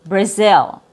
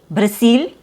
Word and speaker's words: Brazil: And also the consonant before your short I sound now sounds like an S and add a Z sound. Brazil instead of Brazil. Braz Brazil. Brazil which is natural. It's more natural from a Z sound going to a short I sound.